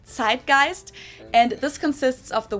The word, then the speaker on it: Zeitgeist: Hamburg usually say Zeitgeist in German we pronounce it tight gist and this consists of